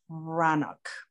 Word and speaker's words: Breathnach: The first thing that was given to me was a book by Sarah Van Brannock. It's spelled Breathnach, Breathnach.